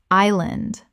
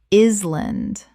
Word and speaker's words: island: Island. Common mispronunciation. Is-land. Correct pronunciation. Island. The S is completely silent. Two syllables. Example.